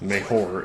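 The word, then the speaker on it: mejor: mucho mayor that's actually better in Spanish it's meor m EJ o r so anyway okay I'm enough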